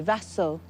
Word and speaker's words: Vasyl: Vasyl, soft S.